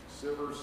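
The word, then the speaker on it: Sivers: Sievers, Sievers, I've heard it pronounced both ways.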